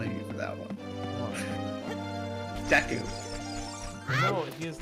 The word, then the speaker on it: Deku: You pronounce it Deku. I think I deserve to make fun of you for that one. Deku.